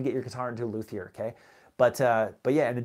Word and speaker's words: luthier: L-U-T-H-I-E-R. I think it's a French word, luthier, right? So anyways, luthier, as a English pronunciation would be.